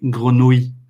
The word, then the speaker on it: grenouille: Ouais, parce que pour les anglophones, c'est un mot horrible. Parce que avec le R, avec le oui à la fin, c'est très, très difficile à bien prononcer.